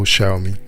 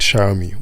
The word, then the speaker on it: Xiaomi: the then vp hyugabara think of the two words show me then pronounce the first word as if it was shower i hope you got